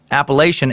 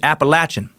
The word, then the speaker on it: Appalachian: end you Jackson suck you pronounce appellation as Appalachian which people which which people who live where I'm from Asheville North Carolina aka Bojangles toilet boil till toilet hole get very pissy if you pronounce that any other way than Appalachian I myself slipped up